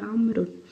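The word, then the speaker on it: عمرو: enggak ada wow Jadi kalau ditulis dengan tanpa harakat sudah tahu kalau yang ada Wow itu dibacanya amrut kalo yang gak ada Wow enak dibacanya Umar gitu ya Hai berdua Aina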